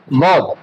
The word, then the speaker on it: ض: এই দদ হরফটি আমাদের উচ্চারণের মাখরাজ। এটা হচ্ছে 7 নম্বর মাখরাজ। এই মাখরাজ যে জিহ্বার গোড়া, জিহ্বার গোড়ার কিনারা, জিহ্বার গোড়ার কিনারা এবং উপরের মারির দাঁতের গোড়ার সঙ্গে লাগাই দিতে হবে।